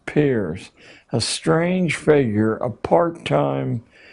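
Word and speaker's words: Peirce: He was, it's pronounced peers, but it's spelled as if it were Pierce. Charles S. peers, a strange figure, a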